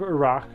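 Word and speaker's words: Erak: I don't know why I decided to name the town that, but it's called the Battle of Iraq.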